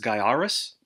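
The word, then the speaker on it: Gaiares: up and i think game sack showed this is pronounced guy Aris a shooter really hard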